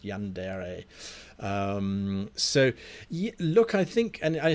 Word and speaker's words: Yandere: That's how it's pronounced, Yandere.